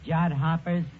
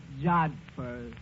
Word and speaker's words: jodhpurs: Absolutely beautiful, Eddie, in her riding pants and her jod hoppers. It was love at first sight. That word is pronounced jodhpurs.